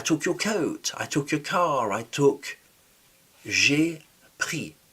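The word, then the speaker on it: pris: I took pre p r i s jri. The s is silent. Jri is I took to read.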